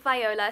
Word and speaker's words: Viola: This is Vibing with Viola, spelt with an I but pronounced with a Y, and this is my YouTube channel.